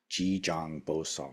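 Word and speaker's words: 지장보살: you tie a bow, and sal, we don't really have such a word in English, but it's like SAL, but where the A is pronounced ah, Ji Jang Bo Sal.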